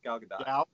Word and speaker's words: Gal Gadot: i thought it was uh gaul uh gal gal gadot yeah gal gadot right it was a good one yeah so i was pronouncing like an the whole